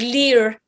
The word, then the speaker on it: Lir: uh this station uh lir is this l-i-r it's pronounced as lear and it's a mythological